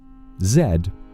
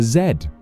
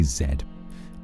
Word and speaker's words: zed: Zed is how we pronounce it.